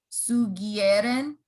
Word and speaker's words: sugieren: Ustedes sugieren. So that's the soft G.